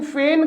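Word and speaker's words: feign: हूं पाखंड करता हूं ऐसी आई जी एन फैन का जी साइलेंट है ध्यान से देखना ऐसी आई GN का जी बोला नहीं जाता वैगन मत बोल देना फ्रेंड्स इस आयरलैंड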